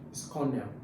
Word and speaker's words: colonel: Now, you see, it looks like colonel, but you don't pronounce it as colonel. It's colonel.